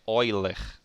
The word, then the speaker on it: Euler: a pronúncia você é a pronúncia do nome dele é olher OC Leonard Euler foi